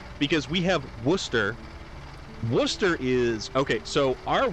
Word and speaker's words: Worcester: Storm pronounced it right. Rare for Americans. No, it's because we have Worcester. Worcester is... Okay, so our Worcester, people would say that's Worcester, okay?